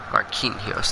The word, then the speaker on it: Marquinhos: Marquinhos, that's how you say it.